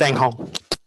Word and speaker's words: Enghong: And Eng, is it just Eng or is it Enghong? It's Enghong. Fantastic, good to know.